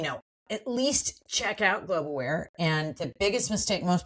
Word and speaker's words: Globe Aware: at least check out Globeaware and the biggest mistake most people make is they'll look up global aare instead of globe aware three syllables but we're everywhere if